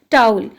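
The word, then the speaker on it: towel: टाउल, अच्छा टावल नहीं होता ये, इसकी जो करेक्ट प्रोनाउंसिएशन है वो क्या है, टाउल। टाउल्स होते हैं, जिनको आपको पता है, तौलिया हम उसको उर्दू में कहते हैं।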